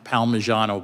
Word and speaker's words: Palmigiano: In footnote 1 in Baxter versus, I think it's pronounced Palmigiano, but don't hold me to that, the Supreme Court said